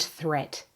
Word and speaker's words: threat: Watch out for meat and great and threat. They rhyme with sweet and straight and debt.